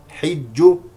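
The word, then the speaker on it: حِجُّ: مفتوحه ولله على الناس حج حج بكسر الحاء ليسوا سواء الوقوف على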